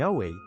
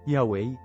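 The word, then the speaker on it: Yahweh: Ang tradisyonal na pagbigkas, Yahwe ay isang muling pagtatayo batay sa mga kaugnay na salita at form na matatagpuan sa mga sinaunang teksto ng Hebreo.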